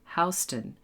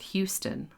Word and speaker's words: Houston Street: And remember to pronounce the name of the street Houston, not Houston, like the city in Texas.